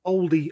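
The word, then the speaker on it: olde: as for the words oldie and shoppie well the e was silent so as history moved on it was just dropped it was always pronounced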